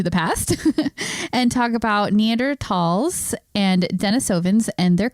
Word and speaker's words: Neanderthal: shift for me to force myself to do neander tall instead of neander Thal right so the reason it's actually pronounced neander tall is and this is how was explained to